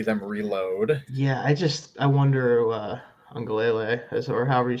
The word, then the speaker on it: Uiagalelei: Yeah, I wonder Ungalele, or however you say it. I forget how to say his name. It's been a while since I cared. Uiagalelei, that's right.